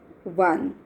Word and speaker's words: one: So it has a one man army. Here also it is starting with O but sound is one, like V.